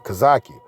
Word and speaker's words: Hezekiah: And she said he pointed to my eldest son, Hezekiah, Kazaki, the proper way to pronounce it.